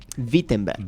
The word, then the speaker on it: Wittenberg: Sí, la ciudad de Vittenenberg. Vittenenberg se escribe con W, pero se dice así, es como Volkswagen. Si se escribe Volkswagen, se dice así, es como una V con F.